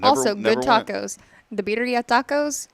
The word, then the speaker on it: birria: The birria tacos right there.